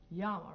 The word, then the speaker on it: llama: If you want to really say it the Spanish way, you say llama, right, Brent? Mm-hmm. Llama. When you have two L's, that means say it like a Y, llama. But if you're saying it the English way, you can say llama.